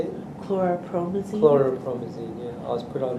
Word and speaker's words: chlorpromazine: Chlorpromazine, yeah.